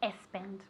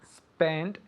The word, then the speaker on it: spend: What is espend? I'd better Ah. spend less money. Very very good. Okay, the word espend doesn't exist in English. But spend does. Okay? Spend like a snake.